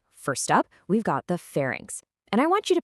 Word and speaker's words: pharynx: Well, first off, it's pronounced fairings.